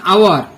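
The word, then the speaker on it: hour: অ্যান আওয়ার যেমন 1 ঘন্টা, এখানে এইচ টা সাইলেন্ট।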